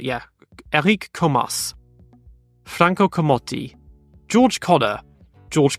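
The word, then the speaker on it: Comas: colom Alberto colbo Eric komas I'm told it's not Komar but yeah Eric komas Franco kotti George Conor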